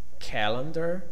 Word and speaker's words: calendar: Calendar, the first one is stressed, the second and third are unstressed.